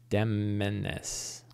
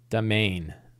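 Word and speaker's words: demesne: How do you pronounce that word? Demeness. Domain.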